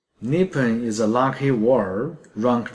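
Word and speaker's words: 日本: Word Japan pronounced as Nippon in Japanese. Nippon is a lucky word, ranked third, luckier than those general and bad.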